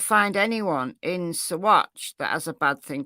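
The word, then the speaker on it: Saguache: uh little news clip Swatch County Colorado hope I'm saying Swatch right because was um it doesn't look like Swatch to me but that's apparently how you pronounce it so the search for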